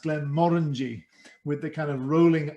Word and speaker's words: Glenmorangie: all the rest but we believe it should be pronounced glenn morengi with the kind of